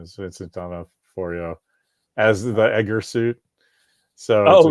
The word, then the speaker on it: D'Onofrio: But the only reason I am interested in the Fan Expo is because I think D'Onofrio is going to be there. That's how you pronounce his last name.